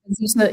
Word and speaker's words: Azusa: Was that how you pronounce it? Azusa, Azusa, Azusa Pacific.